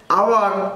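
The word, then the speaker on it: hour: এ ব্যবহার করবেন, কিন্তু যদি এইচ না উচ্চারণ অনেস্ট আওয়ার এরকম উচ্চারণ হইত তাহলে আমরা কি বসাইতাম, ওর জন্য এন বসাইতাম।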